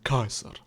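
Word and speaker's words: Caesar: Например името Цезар се произнася кайзар.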